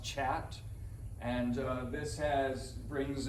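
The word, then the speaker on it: khat: this is chat so it's pronounced chat and uh this has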